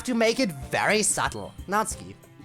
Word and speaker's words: Natsuki: this time maybe like then not part is easy then you do the s and instead of heading right for the k sound just release it for a fraction of a second like you're going to use the Su sound but then do the K not ski hopefully that makes sense